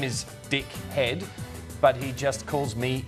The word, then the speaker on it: Hede: My husband's last name is H-E-D-E, pronounced Head.